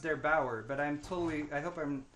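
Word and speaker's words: der8auer: Actually, if you guys want a cool video on that, Steve linked one yesterday by, I believe his name is pronounced Der Bauer, but I hope I'm not wrong about that.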